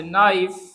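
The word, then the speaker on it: knife: तो बहुत से वर्ड हमारे पास जो है वो इसमें साइलेंट होते हैं, जैसे फॉर एग्जांपल वर्ड हमारे पास है नो, वर्ड हमारे पास है नाइफ, वर्ड हमारे पास है नाइट, नाइट सोल्जर वो कहते हैं, ठीक है, नाइट।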